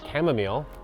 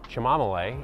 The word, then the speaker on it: chamomile: Next up in our guide is chamomile, or chamomile, if you're weird like me and like to mispronounce things.